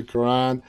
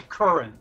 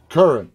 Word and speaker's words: Curran: to thank w quran madison's am i pronouncing your last name correctly that's actually current current w but it doesn't matter you can pronounce it any way you want w and